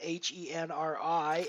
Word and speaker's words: Henri: You know, if you're a French guy and your name is Henri, I should not be calling you Henry, right? I mean, Henry is not your name.